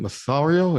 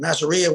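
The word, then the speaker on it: Masseria: He took up with Is it Massario? Is that how he pronounced his name? Oh, Massaria.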